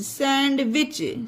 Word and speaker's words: sandwich: यहाँ पर भी सोच लीजिए कि डी है ही नहीं, क्योंकि डी साइलेंट है, डी नहीं है, तो सैंडविच होगा।